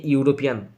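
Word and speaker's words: European: eleven she ইজ এ ইউরোপিয়ান তিনি একজন ইউরোপিয়ন okay E আর ইউ এদের উচ্চারণ হচ্ছে ইউ এর মতো এদের উচ্চারণ কার মতো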